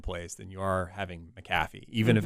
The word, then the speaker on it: McAfee: There was a McPhee one or something like that. It's McAfee. McAfee. It's hard to pronounce.